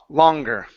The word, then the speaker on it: longer: Instead of lo longer, it's an a sound. Ler. Longer.